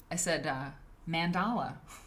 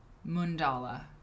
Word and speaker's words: mandala: I said mandala because I'm from Iowa. I said mandala. It's mundala.